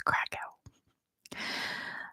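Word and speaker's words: Kraków: it first it is craa I know that's not at all how it's pronounced in Poland but that's how it's pronounced in English and I speak English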